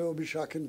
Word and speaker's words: Obisakin: fact an honor for me to introduce Minister obish Shakin to you written obis sakin but pronounced obish Shakin uh it's an honor and